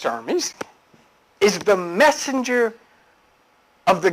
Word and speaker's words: Hermes: little bit okay let's see now John Hermes pronounced Hermes is the messenger of the Gods in Greek